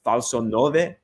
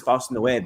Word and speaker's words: falso nove: call it false nueve and not falso nove, but perhaps it derives. How come it? Everyone says falso nueve. I'm like, that's Spanish, maybe. Yeah, in Italian, but I don't know why people still pronounce it in Spanish.